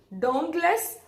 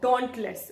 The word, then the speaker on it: dauntless: so it came to pronounce us don't less or dauntless both are correct alright British is this one the first one an American is the second one all right this means